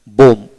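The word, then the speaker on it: bomb: ডিউ এম বোম, বি উচ্চারিত হবে না।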